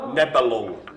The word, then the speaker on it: Nebelung: So to pronounce it phonetically or whatever, Nebelung. It's got the word lung at the end.